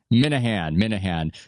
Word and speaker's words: Minihane: Now, you gave an interesting explanation because I heard you on the Kirk Minihane show. Is that the way to pronounce it properly? Minahan.